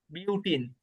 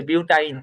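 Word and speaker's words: butyne: এর নাম হবে বিউটিন। নাম কি হবে? বিউটাইন না? সরি, বিউটাইন, হ্যাঁ বিউটাইন। অ্যালকাইন বিউটাইন, আমি উচ্চারণ ভুল করে ফেলছি।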